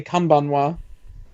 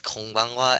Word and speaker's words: konbanwa: You could say Kanbanwa. It's konbanwa, actually.